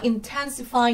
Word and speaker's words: intensify: Chúng ta thấy chỉ có intensify nhấn âm tiết thứ hai.